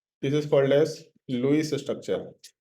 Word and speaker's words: Lewis: अभी तो लुईस बोलो, लेविस बोलो, मतलब लेविस भी बोल सकते हैं इसको, लेकिन लुईस ही बोला जाता है, लुईस डॉट स्ट्रक्चर, बट ये स्पेलिंग नहीं होता, LEWIS होता है।